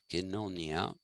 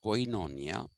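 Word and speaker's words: koinonia: kinnonya politiky i'll give you the spelling k-o-i-n-o-n-i-a kenonia it's not pronounced quinonia it's pronounced actually politic a all right and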